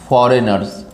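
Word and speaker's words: foreigners: दो नाम दिया था, फॉरेनर्स। और देखिए जो लिखा हुआ है, नहीं फॉरेजन मत पड़ेगा, जी साइलेंट है यहाँ पे, है ना।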